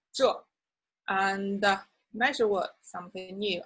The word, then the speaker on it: 这: So this in Chinese is 这, 这, falling tone, quite firm, sounds a little bit harsh or rude, you may say. But that's the Chinese pronunciation, 这.